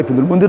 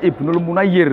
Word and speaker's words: Ibnul Munayyir: Jadi orang Munir, orang Ibnul Munir orang ngono. Ternyata bacanya Ibnul Munayyir ngono, Pak.